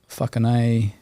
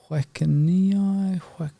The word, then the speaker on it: Whakanei: One is obviously the pronunciation of words in the reo. So, Whakanei, if you can't pronounce Māori, I had a lot of people look and they're like, Whakanei, just over their head.